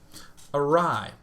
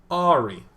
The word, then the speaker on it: awry: We've gotten the chance to see a game that went awry. Or as I used to pronounce it when I was younger, Ari.